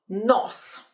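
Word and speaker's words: нос: sounds more like ah for example NOS NOS in English we say nose nose with the O in Russian it's just more simple more straightforward NOS NOS nihawk NOS let's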